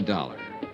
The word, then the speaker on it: Dollar: It's Dollar, Johnny Dollar. Dollar, huh? Yeah, it rhymes with collar.